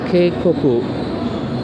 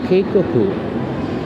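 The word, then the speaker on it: けいこく: And keikoku, just like in warning, keikoku, the EI becomes a prolonged E.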